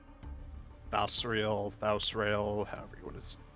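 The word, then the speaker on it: Thausrael: Yeah, it's kind of like Israel, Israel, kind of interchangeable depending on who's saying it.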